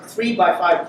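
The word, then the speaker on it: 3x5: This is pronounced 3 by 5 cluster. The one on the left is the number of masters. The one on the right is the number of workers.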